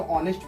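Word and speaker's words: honest: है तो ओनर पढ़ेंगे यहां पर भी ह साइलेंट है तो ऑनेस्ट पढ़ेंगे और यहां पर भी ह साइलेंस है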